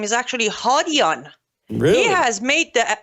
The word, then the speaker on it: Hadian: Well, the correct pronunciation for Shahram's last name is actually Hadian. Really? He has made the ultimate sacrifice to make it Hadian. It's Hadian, the correct pronunciation.